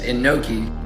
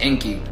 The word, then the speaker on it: Enki: noon cath yod which they will try to say that it says Enoki but phonetically it's literally just Inky which is inkyote and